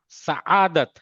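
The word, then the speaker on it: سعادت: हम क्या कहते हैं, सादत है, सादत नहीं है, ये है सआदत, आदत, अवाम।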